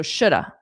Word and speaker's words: shoulda: Okay, so shoulda, shoulda. And notice the L is silent.